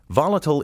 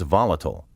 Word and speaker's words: volatile: Volatile is the adjective. The corresponding noun is volatility. The traditional American pronunciation is volatile. The pronunciation volatile is British.